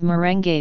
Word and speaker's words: merengue: the Spanish influence but they are called merengue with all the vowels pronounced leche flan is a